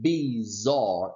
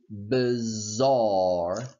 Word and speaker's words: bizarre: score spark and bark bizarre please pay attention it's not be czar its but bizarre bizarre part Sparky and toward